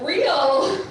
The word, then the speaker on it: Riel: very long time so my last name is pronounced real which is why God